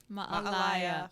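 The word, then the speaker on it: Mā'alaea: Malaya. how do you say it? Ma'alaya. I've just trained myself on Like that you're a one. liar, Larry. You're a Uh, liar. Ma'alaya. Yeah, Ma'alaya.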